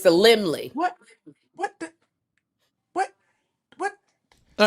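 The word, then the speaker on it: Laemmle: Oh, it's the Limley.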